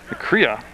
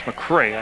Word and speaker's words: McCrea: Going back is number 4 for Essex, Evan McCrea. And he's also back there with Pat Nee. I'm sorry, it's McCray. I mispronounced it.